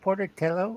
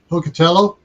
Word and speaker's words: Pocatello: uh Idaho and Port is it portotello or Puerto Portobello Pocatello yeah that's it I can never pronounce that right yeah it's it's an